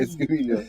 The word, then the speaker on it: Escobilio: How did they pronounce it? The way I pronounce it now. Leonilo Escobilio.